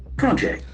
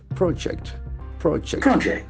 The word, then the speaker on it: project: o j e sit if it is a noun the action will be on the first syllable project project if it's a verb